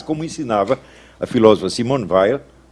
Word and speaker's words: Veil: ensinava a filósofa Simon ve os franceses pronunciam Veil mas eu me recuso